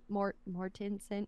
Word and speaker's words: Mortensen: 80s um he looks exactly like Viggo Mortensen Mortensen how do you say his last name I